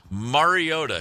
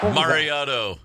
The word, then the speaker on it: Mariota: Roger Goodell announcing the Tennessee Titans drafting of Marcus Mariota.